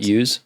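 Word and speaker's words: ewe: do you say it use yeah use it's like the dough like the female rounded out with seven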